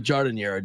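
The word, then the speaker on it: giardiniera: Gardeniera. And beliefs. Or is it Jardiniera, John? That's the right way to pronounce it.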